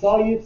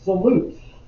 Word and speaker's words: solute: some people pronounce it solute some people pronounce it salute i think salute is more like stand up straight and put your hand on your head okay but some folks